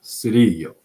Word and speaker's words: Cirillo: Yeah, Cirillo.